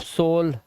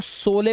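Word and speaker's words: sole: अब पहले मैं भी सोचता था इसको सोले पढ़ें। सोले सोले लेकिन फिर पता चला लास्ट का ई साइलेंट होता है और दो कोंसोनेंट के बीच में ओ आया है। लास्ट में इ है तो इसको ओ से पढ़ेंगे तो सोल हो गया ये। अब ये सोले नहीं है।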